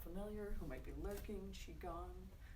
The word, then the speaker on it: Qigong: If anybody's not familiar, who might be lurking, Qigong, spelled Q-I, but pronounced like Chi, C-H-I, Chi.